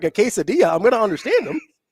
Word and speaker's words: quesadilla: Is quesadilla Spanish? Are you being serious right now? Yeah. You know a lot of English words that give you like the double L and it's pronounced like a yeah?